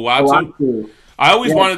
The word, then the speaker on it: Uatu: Uatu.